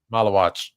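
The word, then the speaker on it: Maluach: Malawach. I can't say anybody's name. Pocket watch. It rhymes with pocket watch.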